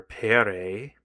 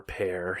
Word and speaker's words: Pere: Latin, or Pedro, or Pere, or Pear, you could say. I've heard it pronounced both ways.